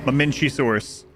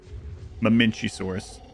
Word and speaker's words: Mamenchisaurus: This one is pronounced Mamenchisaurus. Mamenchisaurus.